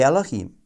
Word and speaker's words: Elohim: Elohim should be pronounced the Elohim, since it is a plural form.